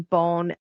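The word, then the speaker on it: Beaune: We had the best time in Bone. Bone I had never been to. It's spelled B E A U N E. So not how Americans are thinking of the word bone.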